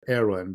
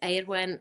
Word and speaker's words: Eirwen: I'm gonna I'm gonna take a stab at Erin, but I'm gonna ask her to introduce herself. Erin, introduce yourself. So, my name is Edwin.